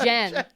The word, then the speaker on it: Jen: It is pronounced Jen. Maybe it's just a miss. Oh. It's a typo. I was like, yeah, no, it's Jen.